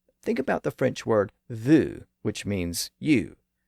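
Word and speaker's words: vous: does that today think about the French word Vu which means you it's spelled v u s and the French word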